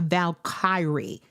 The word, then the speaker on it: valkyrie: her name is Angela she's a valkor a valkari Kyrie that's how you say it a valkyrie and if you don't know